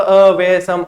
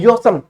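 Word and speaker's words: awesome: औसम बोलते हैं वैसे यदि देखा जाए स्पेलिंग के अनुसार तो अवेसम, अवेसम कौन कहे, ये औसम पढ़ाते हैं। आपको औसम कहना ही नहीं है, आपको औसम नहीं कहना, आपको कहना है योसम।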